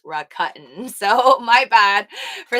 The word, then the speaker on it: Rakuten: my recut nap uh i was calling it raccoon for the longest time but i think it